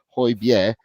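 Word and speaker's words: Højbjerg: and I spelled that corre I said that pronounced that correctly hoier with him everyone said he was he was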